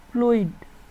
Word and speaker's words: fluid: ফ্লুইড, FLUID ফ্লুইড, ফ্লুইড অর্থ তরল পদার্থ।